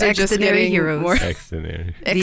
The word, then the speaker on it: Xdinary: Xdinary. The shortened form of extraordinary.